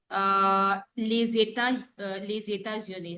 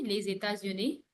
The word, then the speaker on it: les États-Unis: Now here, les États-Unis. Répétez, les États-Unis. Les États-Unis.